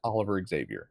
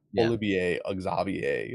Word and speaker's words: Oliver Xavier: Olivier Xavier or I don't however they His name is Oliver Xavier, not Olivier Axavier, like whatever they pronounce it as.